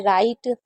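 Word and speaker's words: write: डब्ल्यू कब silent होता है? जब डब्ल्यू और आर साथ में होता है। तो जब भी डब्ल्यू आर साथ में होगा तो डब्ल्यू को नहीं पढ़ेंगे। जैसे राइट रीस्ट wrong rap rack racial racial में टी साइलेंट है।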